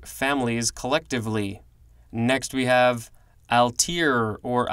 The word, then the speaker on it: Altair: and Mongolian language families collectively next we have al tear or Altair capital alt a IR this is a noun